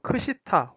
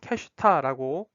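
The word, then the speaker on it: קשיטה: 이 욥기에서는 화폐가 히브리어로 크시타 혹은 캐슈타라고 발음이 되는 그러니까 우리나라 말로는 은조각이라고 해석이 되는 번역이 되는 것들이 나오는데요.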